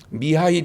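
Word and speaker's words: Михаил: 지었고 죄를 짓고 이제 쫓겨난 천사 이야기 인데요 미하일 이라고 하는 에 우리 성격이 뭐 님이 카일로 대인데 그걸 러시아 c 발음으로 미하일 이렇게 있는데 미아 1 천사가 이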